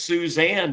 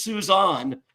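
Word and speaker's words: Suzänne: However, one of my least favorites, and some would say her name is Suzanne, but she would not. It's Suzanne, and there's two dots above it, just to guarantee that.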